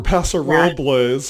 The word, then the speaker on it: Paso Robles: We love going to Tobin James over at the Central Coast in Paso Robles, or Paso Robles, if you want to say it correctly.